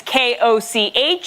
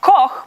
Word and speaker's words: Koch: My last name is K-O-C-H. It's meant to be pronounced Koch, but if you're living in an English-speaking country, 8 out of 10 times I am Olga Koch.